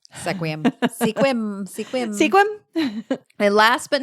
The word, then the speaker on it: Sequim: another one that is commonly pronounced because it is spelled sequum sequum Sequim Sequim squim and last but not least the 26th foot